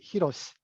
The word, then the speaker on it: Hiroshi: So let me only note that his name is Ooguri Hiroshi in the original pronunciation.